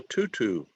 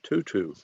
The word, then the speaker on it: tutu: It's called a tutu. A tutu. It's like you're saying the number two, okay? But T-U-T-U.